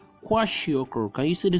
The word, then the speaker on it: kwashiorkor: The first one we have is called kwashiorkor. Can you see the spelling, please, in case I ask you in an exam? It's spelled as Kwashiokor. I repeat that, Kwashiokor.